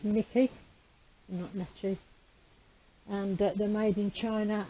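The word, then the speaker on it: Necchi: brand and uh and it's pronounced nikki and they're made in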